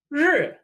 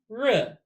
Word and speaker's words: 日: character for sun, pronounced 日. 日. 日. 日. Now, if that sounds hard to make, going 日, 日, almost like an R, will follow. It's not quite right, but it won't be confused with any other sounds,